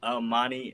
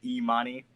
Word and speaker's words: Amani: Shamar wants me to note that's Amani and not Imani. Serena, just a note there. Y'all stay pronouncing her name Imani.